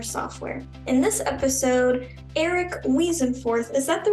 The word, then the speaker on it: Weasenforth: In this episode, Erik Weasenforth, is that the right way to say your last name?